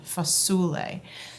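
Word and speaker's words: fasule: In the south of Italy, it's spelled f a s u l e. Foule.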